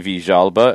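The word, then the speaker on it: Villalba: visjalba i mean it's it's how it's pronounced in argentina it's how you know his mother would call him the alba is not wrong in other parts of the spanish speaking world so i opted for the argentine pronunciation because he was argentine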